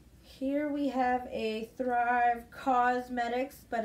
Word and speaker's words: Causemetics: Here we have a Thrive Causemetics, but it's spelled like cause, C-A-U-S-E, medics.